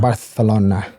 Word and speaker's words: Barcelona: I I I Barcelona. Bartholona. Um, it's it's amazing. Which was which was called that because or pronounced that way because the king had a lisp.